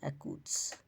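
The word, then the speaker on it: accuse: শব্দে সিসি ও ইউ কনসোনার থাকলে সিসি এর উচ্চারণ ক হবে যেমন একুস অভিযুক্ত করা এককর্ডিং অনুযায়ী একুরেট যথার্থ বা সঠিক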